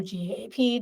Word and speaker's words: GAAP: The last one is GAAP or GAP depending on how you pronounce it and these are generally accepted account accounting principles.